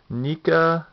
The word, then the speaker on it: NECA: take a look at the NAA or NECA however you want to pronounce it uh remake uh